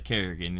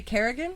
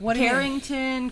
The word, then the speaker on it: Carigan: Oh, nobody can say my name either. Pisses me off. It's not hard. You spelled it really easily. The only difference is you didn't add two Rs.